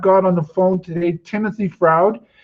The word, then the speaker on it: Timothy Froude: And I've got on the phone today Timothy Froude. I think I said your name right, Timothy. Thank you for joining us today. Thanks for having me, Alan, and you did indeed pronounce it correctly.